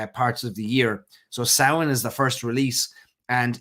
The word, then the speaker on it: Samhain: So a lot of you were wondering, how do you pronounce that? Samhain.